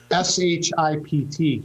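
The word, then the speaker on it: Shipt: is called shift and i had to be careful pronouncing that s-h-i-p-t ship so what it means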